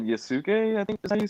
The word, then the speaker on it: Yasuke: spell it then uh y-a-s-u-k-e and that's netflix like sasuke but yasuke yeah i don't know